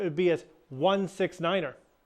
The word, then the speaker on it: Niner: be as one six Niner the number nine has its own pronunciation due to the fact that nine can sound like five when spoken quickly over the radio say Niner instead of 9 November six